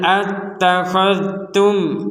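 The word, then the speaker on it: اتَّخَذْتُمْ: Qul attakhadtum indallahi ahda. Ada di sini dzal sukun. Yang perlu dijelaskan, dzal sukun di sini jangan sampai dipantulkan. Attakhadh, khadh, tidak ada pantulan.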